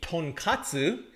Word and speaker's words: tonkatsu: And that's the difference between tonkatsu and tonkotsu.